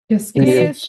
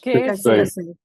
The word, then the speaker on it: Qu'est-ce que c'est: How do we pronounce it? Qu'est-ce que c'est? Qu'est-ce que c'est?